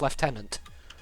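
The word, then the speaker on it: lieutenant: with how you guys pronounce left tenant because honestly I don't have an answer for that. So I'm glad you didn't ask. It's like there's no F in it.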